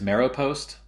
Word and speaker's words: Maropost: Salesforce or something else well our favorite is marrow post and uh I can put that in the chat it's spelled m a r o p o s